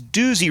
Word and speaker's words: Doozy: My name is Dooy. Rhymes with bluesy.